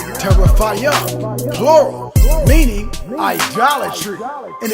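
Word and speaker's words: תרפים: Reading from the Hebrew, H8655, and it's pronounced teraphayim, plural, meaning idolatry, in its purest sense or form, as if it was such thing as that.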